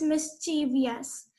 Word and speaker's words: mischievous: It is not at all pronounced as mischievous. It is mischievous.